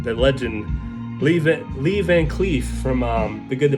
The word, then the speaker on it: Lee Van Cleef: um very great movie um it's got um leaf on cleat sorry i had butchered his name that legend leave it lee van cleef from um the good the bad and ugly